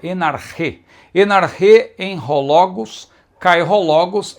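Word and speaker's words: ἐν ἀρχῇ: Então veja, enarche, muitos falam enarque, não é? Uma pronúncia mais próxima realmente do grego koiné seria enarche.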